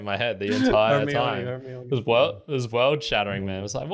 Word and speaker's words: Hermione: Hermione and not Hermione, like I had been pronouncing it in my head the entire time. Hermione.